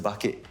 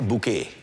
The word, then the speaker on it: Bucket: I forgot to mention, Charlie's surname is Bucket. Right. Yeah. Is it pronounced bucket or bouquet? Bucket. I don't know, the Europeans have different ways of saying things, yeah. True. Charlie Bouquet. Spelled bucket. Bucket's easier. Oh, you're the master, I would argue.